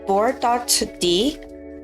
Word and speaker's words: board.d: Also binging with Babish and board.d. It's just pronounced as board, but that's how it's stylized.